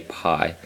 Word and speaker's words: pi: You can do the same with P and say pi. But professionally, when you get into it, it should be pronounced P.